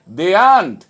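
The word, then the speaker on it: daren't: ডেয়ার নট কে আমরা কখনোই ডেয়ার নট বলবো না, আমরা কথা বলার সময় আমরা বলবো দেয়ান্ট, দেয়ান্ট।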